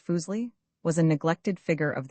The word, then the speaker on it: Fuseli: Fuseli pronounced foolsi was a neglected figure of the utmost importance.